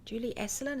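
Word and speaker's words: Julie Asselin: I use Julie aselin Julie esselen is how you say her name Julie eln from Canada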